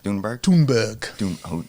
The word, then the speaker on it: Blumberg: doh doh all right how do you say your last name Blumberg yes nice all right so